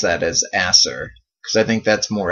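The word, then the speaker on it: Aesir: the acer warrior and i usually pronounce that a seer but i'm thinking that's pronounced asser so i guess for the rest of the episode i'll pronounce that as asser because i think that's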